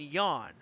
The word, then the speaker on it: Yan: The last name, it's not Ethan Yan, it's Ethan Yan. It's pronounced Ethan Yan. I guess, he says that because it makes us fall asleep when he's leading or something, but no, that's his last name, Ethan Yan, not Ethan Yan.